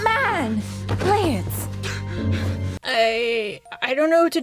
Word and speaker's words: Blitzo: Hi, I'm here to talk to you about Helluva Boss, or more specifically, Blitz Buxo. The O is silent now.